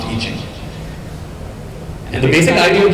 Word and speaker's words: I Ching: It's spelled I Ching, but it's pronounced I Ching.